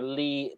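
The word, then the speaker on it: Leigh: trivia on him here his name is sir lee teebing and lee is not pronounced the spell l double e it's it's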